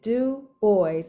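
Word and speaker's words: Du Bois: score and he says you pronounce it do boys and he spells out the DU puts the space b o YZ so he he makes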